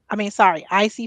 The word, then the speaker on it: Isy: Icy Fashion LLC, as well as on Facebook. It's spelled ISY as Izzy, but it's Icy.